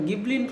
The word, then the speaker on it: Ghibli: எனக்கு தெரிஞ்சதெல்லாம் Maserati, கிப்லி same spelling தான். ஆனால் இந்த காரை வந்து நம்ம கிப்லின்னு ப்ரொனவுன்ஸ் பண்ணணும். நம்ம ஊரில் வந்து நிறையா ஆடி, பென்ஸ், பிஎம்டபிள்யூ பார்த்துருப்பீங்க, ஜாக்வார், ரேஞ்ச் ரோவர் கூட பார்த்துருப்பீங்க.